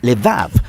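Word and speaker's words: לֵב: Vamos a explorar la cuarta palabra clave en esta oración, corazón, que en hebreo a veces se pronuncia levav o con mayor frecuencia de manera más breve, lev.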